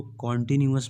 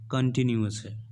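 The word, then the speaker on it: continuous: कंटिन्यूज ए कंटीन्यूअस है काफी लोग इसको कॉन्टिन्यूज बोलते हैं जो गलत है यह सिर्फ कंटिन्यूज कंटिन्यूज हां हिंदी में लगातार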